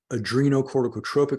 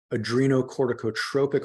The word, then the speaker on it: adrenocorticotropic: place adrenal corticotropic hormone so adreno cortico OT tropic hormone and I'm just putting these like slashes here just to break the word up into syllables Okay so adreno refers